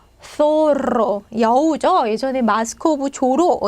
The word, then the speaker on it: zorro: 사라라고 이렇게 발음을 하겠죠. 자, 또 소로 여우죠. 예전에 마스크 오브 조로 있었는데 자, 소로. 자, 중남미 사람들 얘 발음하면 소로. zorro.